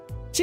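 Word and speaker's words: 四: She has 2 pronunciations because 4 in Japanese is she, which sounds similar to she, death.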